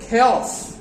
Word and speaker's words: chaos: It's not chaos, it's chaos. The chaos.